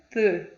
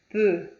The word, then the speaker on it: peu: Como que eu vou pronunciar o E e o U? E. Como na palavra peu, peu, que significa pouco.